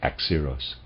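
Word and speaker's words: Axieros: the khabiri be deciphered i'm not sure how to pronounce that readers aside x0 is spelled a x i e r o s and i'm pronouncing that x zeros and of readers aside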